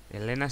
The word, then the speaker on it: Helena: siguiente novia se llama Helena Helena o Helena o Elena se escribe con h por eso así estaba